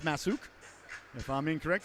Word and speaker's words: Masuk: i believe it's pronounced masuk if i'm incorrect i know it's spelled s-u-k but i believe it's said s-o-o-k i guess that'd be